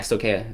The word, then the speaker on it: Stoicheia: And so I'm going to do some Stoicheia content, or yeah, Stoicheia, if you pronounce it correctly, that content as well.